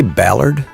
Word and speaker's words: Ballard: Frankie Ballard how do you say I say Ballard ballad but either way I like the way